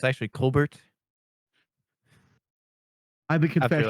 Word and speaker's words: Colbert: Colbert. Why is his name pronounced Colbert and not Colbert? Because he's French Canadian.